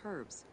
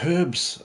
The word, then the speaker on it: herbs: palm wine and packed in crushed herbs before being placed in canopic jars. She said herbs, and not the annoying way of Americans who say herbs when I say herbs. It's spelt with a H, Americans.